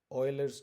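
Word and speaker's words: Euler: Napier's constant भी बोलते हैं और इसे यूलर्स नंबर भी बोलते हैं। Some people read it एज ऑयलर्स number. ठीक है, तो ऑयलर्स नंबर भी पढ़ा जाता है। इट्स बेसिकली प्रोनाउंसिएशन डिफरेंशिएशन, सो वो रीजनल होती है।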